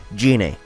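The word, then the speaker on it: Gine: Dragon Ball - storyline ga they pronounced ga his name is Guinea in this movie when I've always pronounced it as GA so I'm gonna refer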